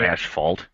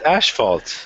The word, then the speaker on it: asphalt: It's not asphalt. It's asphalt. It's asphalt. There's no sh in it.